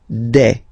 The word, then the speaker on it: des: Okay, and then the plural form des. All right, here S, you pronounce it like e.